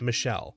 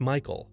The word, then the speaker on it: Michael: it was Michael, and again this girl was adamant that it was pronounced Michelle. Mom, bemused, said something along the lines of, "It's literally a name from the Bible. It's pronounced Michael, and has been for thousands of years."